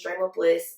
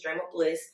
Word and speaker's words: Drem@ Bl!ss: But my name is Drem Bl, but you got to spell it a certain way. It's DREM and the @ and then it's BL exclamation point and 2 S's, Drem Bl.